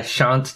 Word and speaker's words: shan't: I shan't do this. Okay, well, the way you pronounced it, it's...